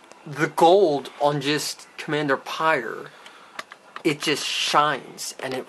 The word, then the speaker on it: Pyre: captain uh pyre here which is the correct punch in a pronunciation because it's p y r e pyre it is potter yeah so not fire not pyre no coming to p